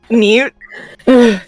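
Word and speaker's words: Neut: Nah. Newt. Newt. Yes. N-E-U-T.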